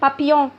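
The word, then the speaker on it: papillon: ان بابيون، فراشة ان بابيون، فراشة ان بابيون، ان بابيون. فراشة ان بابيون. ال هنا مش بيتنطقوا.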